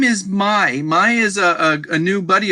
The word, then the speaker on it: Mai: her real name is Mai. Like Mai belongs, it's Mai. It's Mai. That's just how you say it, Mai.